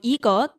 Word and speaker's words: 이것: 이 plus 컷, so 이것, but you can say 이거.